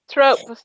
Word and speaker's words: trope: Why do you always say throat? There's no TH. There's no H. Trope. I don't know. That's how I pronounce it. That makes the TH sound of throat. But there's no H in trope.